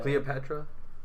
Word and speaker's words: Cleopatra: cleopetra CLE am I saying her name Catra Cleopatra yeah Patra you're saying it right uh how